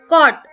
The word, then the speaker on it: caught: Caught. GH is silent.